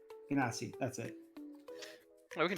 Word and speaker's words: Genasi: I can't think of how you pronounce it. The half elemental people. Oh, the Ganassi? Genasi, that's it.